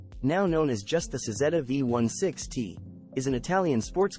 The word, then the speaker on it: Cizeta: The Cizeta-Moroder name comes from the Italian pronunciation of designer Claudio Zampolli's initials, CZ, Cizeta.